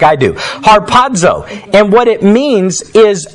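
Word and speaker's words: ἁρπάζω: from the greek word harpazzo is how you would pronounce it when you're trying to say it in english and don't really know greek like i do harpazzo and what it means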